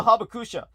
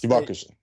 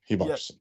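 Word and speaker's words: 被爆者: The habakusha. The habakusha. Yes. Hibbakasha. Hibakasha. Hibbakasha. Thank you. You've got the pronunciation correctly. Yeah, you've got the inonation just right. Habakusha. Hibbakasha. That's that was it. That's how my mother would have said it.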